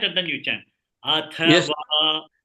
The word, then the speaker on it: अथवा: In Sanskrit, when it is not mentioned, it is full. You have full matra, not half matra.